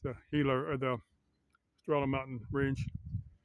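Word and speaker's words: Gila: I'm at the Hila River with a G, but it's pronounced Hila.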